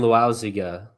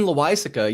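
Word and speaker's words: Loaisiga: Um, it's not a great L Jonathan Luziga. Laziga Laza. Oh, Jonathan Loisa.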